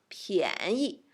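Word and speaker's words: 便宜: 便宜 neutral tone 便宜 So expensive 贵 cheap 便宜 Okay, so which one is 贵 Which one is 便宜 Which one?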